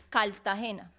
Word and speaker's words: Cartagena: ejemplo, ya Sí, en Colombia hay una ciudad que se llama Cartagena. sí, Cartagena. pero los que viven allá le dicen Cartagena.